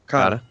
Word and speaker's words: Okada: Okada.